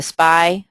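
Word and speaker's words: SPI: The SPY, that's how that's pronounced, submitted by the service provider if you want them just to give you a discount on your bill.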